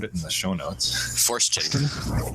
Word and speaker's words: Forstchen: and I'm not even going to try to pronounce that last name, but I'll put it in the show notes. Forstchen. Forstchen.